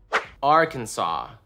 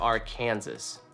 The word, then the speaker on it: Arkansas: Arkansas. Right? Is that how it is? Not Arkansas. Arkansas should be referred to as Arkansas instead of Arkansas.